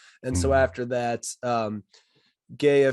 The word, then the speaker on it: GEHA: so after that um gaia field at arrowhead stadium or geha i think is a proper way to say that is uh 76 416